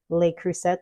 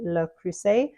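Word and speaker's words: Le Creuset: say it in French I know here in the US a lot of us say Le cruset but it's actually look crus um but however you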